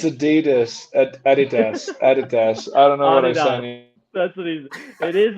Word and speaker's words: adidas: it do you really say he does it's adidas that's what he's it is adidas you're right